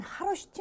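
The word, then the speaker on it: 카로슈티: 여기를 열어보면 이렇게 아주 특이한 하로시티 문자라고 하는 것이 안에 적혀 있습니다. H 앞에 K가 묵음이기 때문에 이제 하로시티라고 우리가 발음을 하는데요.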